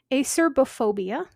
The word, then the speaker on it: acerbophobia: This next one has two different pronunciations and spellings depending on what book you're looking at. Acerbophobia or acerophobia.